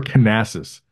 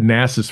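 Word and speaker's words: Knasas: So we'll all just remember Canassus. Yeah. Yeah. Right. We said Nassus forever until he got on Matthew Cote's dissertation, and he's like, "No, you pronounce the K."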